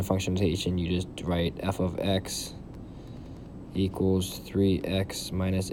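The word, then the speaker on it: f(x): With function notation, we're going to use this symbol, f and in parentheses x, and it's pronounced f of x.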